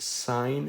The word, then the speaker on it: sine: The first one is going to be called the sine function. Usually you will see this abbreviated as SIN. That is still pronounced sine. It is not pronounced sin.